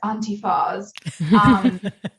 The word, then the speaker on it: Antyfas: it pretty well actually I've been ridiculous pronounced as Auntie fawz there's a lot of